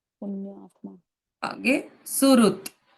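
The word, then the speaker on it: सुहृत्: ma'am एक बारी फिर से प्रोनाउंस करोगे ये वर्ड कैसे देखो सुरत सुरत यस एस यू एच आर यू टी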